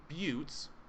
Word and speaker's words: buttes: damage and that's uh they're called buttes it's spelled b-u-t-e which is i mean pretty much butt essentially but here's a